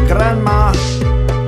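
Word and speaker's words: Granma: If you pronounce it correctly, it sounds like grandma.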